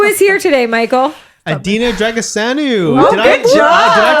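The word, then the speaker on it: Drăgășanu: i'm romanian yeah yeah so in romanian apparently it's pronounced dragoshano what's in it yeah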